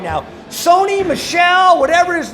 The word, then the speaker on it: Michel: Sony, Michelle, whatever his name is, Michael, I don't know, the boy with the last name. I think it's Michel. All right. Michel. You got to say it like that.